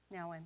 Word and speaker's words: Nouwen: Nouwen, thank you.